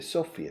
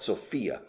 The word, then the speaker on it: Sofia: Se dice Sofia, no Sofia, right? For the capital. I think the capital of Bulgaria, they stress the first syllable, not Sofia.